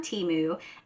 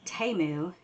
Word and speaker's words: Temu: had a commercial, that they pronounce it Temu, and no, I'm gonna still call it Temu, because that's what I think it is, and nobody can change my mind.